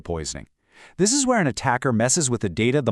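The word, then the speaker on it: ATT&CK: You've probably heard of the famous MIT anti-C framework, and yes, you pronounce it, attack, which breaks down tactics for traditional cyber attacks.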